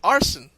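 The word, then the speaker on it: Arsène: his persona has been named and it's named arson hmm i wonder why yes that's spelled a-r-s-e-n-e now now you really can't get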